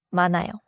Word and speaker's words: 많아요: 만화요. 만나요는 니은히 곁받침 뒤에 아요가 오면 히이 발음되지 않고 니은이 이어져서 만나요처럼 들립니다.